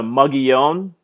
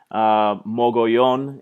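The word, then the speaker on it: Mogollon: there in the north you see here the muggy own that's the correct pronunciation for the in the region mogul yawn in Spanish there in the area of southeastern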